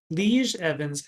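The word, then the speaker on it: Lije Evans: It's spelled L I J E, which apparently is a Dutch name, Lee Evans and Dick Summers.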